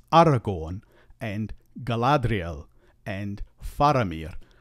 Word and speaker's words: Galadriel: always a and the letter a is always pronounced a and not a or a and so technically it's Aragon and Galadriel and faramir not Aragon Galadriel or galadrial and not phir another thing to watch for